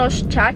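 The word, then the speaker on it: Rorschach: Ditulisnya tuh Rosyah tapi dibacanya tuh Rosyah gitu.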